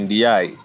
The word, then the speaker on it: Ndiaye: Where you say Ndiaye, where you see E at the end is not Ndiaye, you say Ndiaye. You don't pronounce the E.